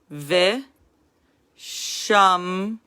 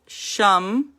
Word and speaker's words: Ve Shamru: And it's called Ve Shamru. Ve, because it's the beginning of a syllable, it's moving, it's a rolling stop. Ve, This is the end of a syllable, so it's a full stop. Shamru.